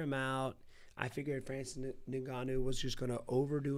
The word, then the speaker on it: Ngannou: I say Ngannou. Is it Ngannou or Ngannou? I believe it's Ngannou. Okay. I've been saying it wrong the entire time.